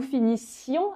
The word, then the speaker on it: finissions: s pour nous nous finissions alors attention à bien prononcer le i d'accord nous finissions I